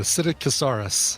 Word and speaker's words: Psittacosaurus: Yeah, the only you just don't pronounce the P, the Psittacosaurus.